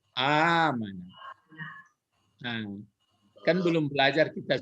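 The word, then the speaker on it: أمانة: Amana. Hah? Nah, jadi ya kalau salah pun nggak apa-apa. Yang benarnya hanya itu salahnya sebenarnya dia 4 huruf ini. Jadi panjangkan A-nya itu amanah.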